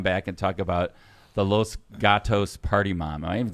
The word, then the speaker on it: Los Gatos: We're going to come back and talk about the Los Gatos party mom. Am I even saying that right? Is it Los Gatos? Los Gatos?